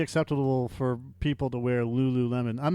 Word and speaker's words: Lululemon: does sit like that when you spell it Lululemon but it looks like Lew LeMond or something like that but they call it Lululemon or yeah that's the